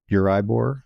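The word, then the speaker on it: Euribor: So the base rate in your market is Uribbor. Am I pronouncing it correctly?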